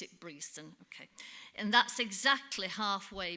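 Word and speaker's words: Breaston: another strange way it's spelled breston but we pronounce it breson okay and that's exactly halfway between Derby and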